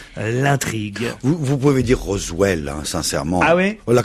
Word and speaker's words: Roswell: vous vous pouvez dire Roswell hein sincèrement ah oui là quand même vous êtes le seul au monde à dire rosevell ah oui oui vraiment là Roswell c'est vous voyez c'est mais